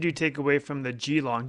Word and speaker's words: Geelong: take away from the geelong do you pronounce it Geelong very long uh they do it more like Joe long oh there you go